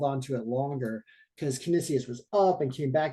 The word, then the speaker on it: Canisius: that I have this kinesia situation or uh uh commission when I say it wrong Canisius right they call it Canisius um so I won